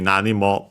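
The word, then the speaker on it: なに: anime and also memes uh accent on the first motor.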